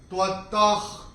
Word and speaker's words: त्वत्तः: अक्षर है क, और विसर्ग के बाद जब क या ख आता है तो विसर्ग का उच्चारण होता है ह फ्रॉम द एपिग्लॉटिस। तो हम कैसे बोलते हैं? त्वत्तः कमलपत्राक्ष। तो ये हम यहाँ पे